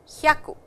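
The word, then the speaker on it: 百: Please remember, 100 is pronounced as 100, 100, a short sound, hya, 100, okay.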